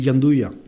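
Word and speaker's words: gianduja: c'est quand même le Giandouya. Alors, c'est celui qu'on vient de goûter. Alors ça s'écrit Giandouja, mais en fait ça se prononce en italien, c'est une recette italienne, ça dit Giandouya.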